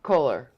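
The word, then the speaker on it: Kolar: to pronounce the name it's k-o-l-a-r color how else does he think that's gonna be color it's not one of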